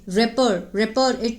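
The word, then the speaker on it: rapport: हु had stuck, जो कि means उन्होंने स्थापित किया था, एक क्या स्थापित किया था, तालमेल, रेपर टी साइलेंट है इसका, ठीक है ना।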